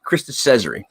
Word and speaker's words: Krista Cesare: I always pronounce the last name wrong, so I wanted to get it right. Krista Cesare.